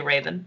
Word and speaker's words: Ravn: okay i mean it's it's actually a town it's a danish name and people don't know how to pronounce it so i just say raven it's easier uh uh how do